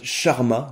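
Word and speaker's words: Charmat: de la cuvec clause qu'on appelle aussi méthode charma. Donc ça s'écrit c h a r m a t.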